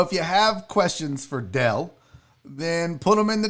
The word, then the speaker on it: Del: I used to say Dale, and then it was Joel. It would be like, nope, Barry, that's not how you say his name. I'd be like, it's Dale. He'd be like, no, it's Del.